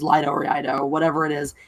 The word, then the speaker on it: Iaido: Lido, that's the one I've heard, or Iaido. I think it's Iaido. Yeah, I've heard it as Iaido before.